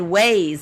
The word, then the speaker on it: Waze: tip number one being the first app is ways yes I said ways it is spelled waa ze so what is ways it